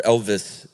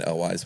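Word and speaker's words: Elwes: Sarandon, Carrie Elwise, or Elvis, apparently is how you really pronounce it. Really? Yeah, I've been saying Elwise my whole life.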